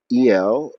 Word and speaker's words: al: A law is partly uh, el, even though it's spelled al, el being the definite article, the high one, the most important one.